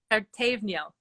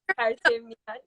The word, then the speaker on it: Pertevniyal: high school, which Tuba tried to help me pronounce. Yes. Pertevniyal. Is very good pronunciation. Pertevniyal.